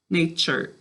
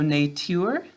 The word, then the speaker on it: nature: top of our because the u makes it make a ch sound all right the other thing listen one more time need tour nature so nature nature alright so we've got a silent final e job one here but it also instead of making a ur it does sound more like er the era of hurt so we're going to